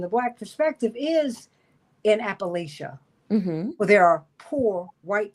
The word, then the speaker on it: Appalachia: in really in in in Appalachia in Appalachia excuse me that's how they pronounce it it's pronoun it's been